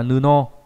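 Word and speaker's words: 布: Đấy, chữ bố này là nghĩa là vải, đọc là nuno.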